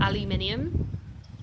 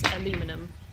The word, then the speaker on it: aluminium: Um it's still um aluminium because the British spell it aluminium. The Americans spell it aluminum. That's why it's said differently because the what the spelling is different.